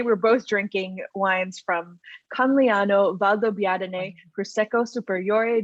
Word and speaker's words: Conegliano: see i would have i put that hard g in there i i say coniglio coniglia and so that's wrong right i'm sure i'm sure it's not supposed to have a hard g i'm sure it's not supposed to have a rj so conilliano valdo biadine